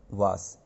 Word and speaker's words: vase: इसकी स्पेलिंग है VASE, लेकिन पढ़ना इसको वास है।